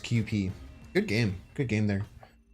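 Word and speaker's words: Kewpie: the on the bottle it says that it's pronounced QP good game good game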